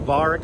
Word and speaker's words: Varick: We're walking north on Varick Street right now, approaching, we're just a few blocks south of Canal right now.